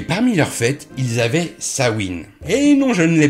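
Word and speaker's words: Samhain: leurs fêtes ils avaient sawin et non je ne l'ai pas mal prononcé croyez-moi je suis allé vérifier C faitte s'écrit samen mais se prononce sawin ne me demandez pas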